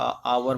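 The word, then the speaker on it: hour: अब आप यहाँ देखेंगे कि लेटर चाहे ओनेस्ट में था, आवर में था, पहला लेटर तो एच है, मगर जब इस वर्ड को बोला जाता है तो साउंड एच तो साइलेंट हो जाता है।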